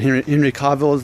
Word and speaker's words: Henry Cavill: Even the guy that plays Superman, Henry Cavill, that's how you say it, they all have receding hairlines.